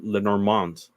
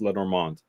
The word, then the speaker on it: Lenormand: So you started a series on Lenormand.